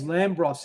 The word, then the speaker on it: Lambros: But the band's Lambros, isn't it? Or It's Lambros. Lambros, yeah, Lambros, Yeah, like The the bros.